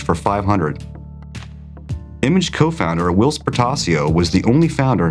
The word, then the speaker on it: Portacio: And someone's accused us in the past of pronouncing his last name Pistachio once.